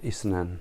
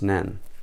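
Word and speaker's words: اثنان: be like that what not isnan we don't have isnan in Arabic it's Nan I you said so you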